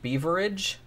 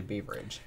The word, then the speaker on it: Beveridge: I think it's pronounced Beaveridge, Victoria. It looks like Beveridge. And I have heard it pronounced Beaveridge. That, but I think it's Beaveridge.